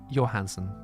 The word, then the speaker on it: Johansen: Sorry, Johansen is the correct pronunciation.